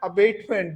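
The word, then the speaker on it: abetment: अबेटमेंट, और दूसरा है अबेटमेंट। दोनों का जो प्रोनाउंसिएशन है लगभग एक जैसी सी है। अबैटमेंट इसको बोला जाएगा और ये है अबेटमेंट। अबैटमेंट और अबेटमेंट, अबैटमेंट, अबेटमेंट, ठीक है।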